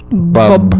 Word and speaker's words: Bub: and you got to pronounce the final B in that too. Bub.